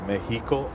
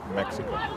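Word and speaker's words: México: And for Mexico, our X's are an H sound, so it's Mexico instead of Mexico.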